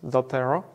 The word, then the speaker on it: Zotero: there specifically about that it's pronounced as doterra it's a free tool